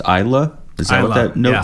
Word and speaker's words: Islay: single malt whiskies are produced in oh that's pronounced Isa is that what that note said wow if